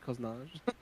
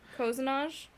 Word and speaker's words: cozenage: Do you think you pronounce it Koznaj? Coznage. No, it doesn't. No, it comes. No, the etymology is English. Okay. Cozenage. Yeah. It comes from Yeah, cozen.